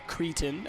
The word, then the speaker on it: cretin: Yeah, and also, could you explain what a cretin is? Or cretin, as some people pronounce it.